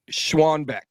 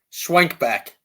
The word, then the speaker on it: Schwenkbeck: his last name uh schwanbeck was it close Swank back Swank back that's easy Swank back just like it sounds call me right